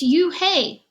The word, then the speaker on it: Unhei: no no he corrected it's spelt u-n-h-e-i it's pronounced it's you hey the boy said like you hey what about hey you